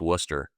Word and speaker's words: Worcester: If you're if you're in Boston, it's just Worcester. You know, you just eliminate all the syllables.